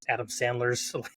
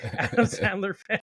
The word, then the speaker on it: Sandler: big Adam Sanders fan and I like his Adam Sanders said his name wrong Adam Sandler and um I like his really goofy movies